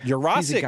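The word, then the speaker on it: Yurosek: Urasic, we learned last week. Urasic. Oh, Urasic. Yeah. Wow. Todd Hartley corrected us very quickly. He said it's a Polish last name, Urasic. We've all been saying it wrong.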